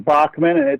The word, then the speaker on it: Boeckmann: my last name and how to pronounce it in Bachman it's a it's a German name of German Heritage and actually my great-grandfather